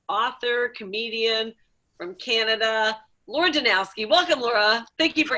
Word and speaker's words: Danowski: christina walkenshaw and we have the lovely laura danowski did i say it right yeah you did